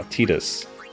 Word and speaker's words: Tidus: See, I'm saying it right now. Tidus.